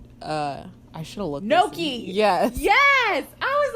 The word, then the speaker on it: gnocchi: Ganache?